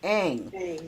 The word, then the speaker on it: Ng: But a young lady by the name of Kim Ng, and her name is her last name is NG. Kim Ng, and it's pronounced Ang.